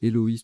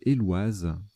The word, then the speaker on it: éloise: Alors j'ai prononcé Héloïse tout à l'heure, mais pas du tout, c'est Éloise.